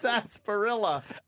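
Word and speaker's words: sarsaparilla: Is that how you say it? It's sasparilla.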